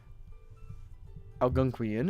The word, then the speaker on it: Algonquian: ALGO. NQUIAN. NQUI. There it is. Alright, how do you say this? According to Google. Algonquian. Algonquian. Good enough for me. Better than my guess.